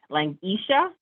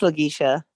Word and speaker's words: Lagisha: Langisha. It's Lagisha, no problem.